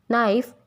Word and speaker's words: knife: Sometimes some people says it cano. It's not cano, not knife, not knit. It's knit, knife and no.